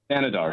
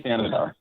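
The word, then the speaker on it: Thanedar: Thanadar, Sri Thanadar.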